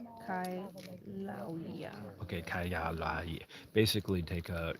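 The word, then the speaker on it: Kīlauea: It's pronounced Kailuya. Kaihaluya. Kailauya.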